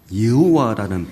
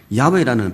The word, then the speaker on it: 야훼: 여호와라는 발음보다 야훼라는 발음이 더 정확하다고 해요.